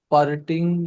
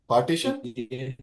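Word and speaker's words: parity: पास concept आता है पार्टिटिंग या क्या नाम है उसका एक्सैक्ट प्रोनाउंसिएशन नहीं आ रही थी पार्टीशन पारिटी अच्छा पारिटी नहीं पारिटी पी ए आर आई टी वाई डेटरिटी जीटी जी जी पैरिटी तो पैरिटी इन बाइनरी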